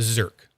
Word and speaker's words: Zerk: best Skelly ver the zerk it's funny because you can just spell it a z e r KK right like the ver but it's a zed instead zerk and it's the you guys